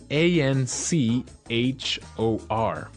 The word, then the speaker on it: anchor: anchor now it's spelled a n c h o r right but you don't pronounce the CH as you normally would right another one of